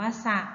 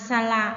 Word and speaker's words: สระ: นั่น เอง นะ คะ ประโยค แรก หมอ เขา เก็บ บัว ใน สระ อะ อ่าน ว่า สะ นะ คะ เด็ก ๆ อ่าน สละ ใน ภาษา ไท ย มั๊ย คะ ต้อง สังเกต คำ นะ คะ ที่ อยู่ ข้าง หน้า ข้าง หลัง นะ คะ สังเกต ใน รูป ประโยค นะ คะ ว่า จะ อ่าน ว่า สะ หรือ สละ นะ คะ นะ ยก